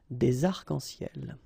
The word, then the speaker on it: des arcs-en-ciel: Okay, you can see that as usual we don't really pronounce this final S, so phonetically it's almost the same, but then we've got this liaison between the two, des arcs-en-ciel.